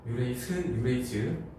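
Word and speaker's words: urease: 지가 아니라 스야. 영어 발음이니까 그냥 봐줘. 유레이즈. 분명히 수능 특강에서는 지로 봤는데 내가 잘못 봤나?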